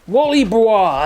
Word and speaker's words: Wally Bois: Wally Bois, as in Wally Wood.